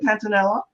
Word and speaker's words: Pantanella: your bio Teresa and pronounce your last name for me is it panzanella yes you said that beautifully my grandfather would be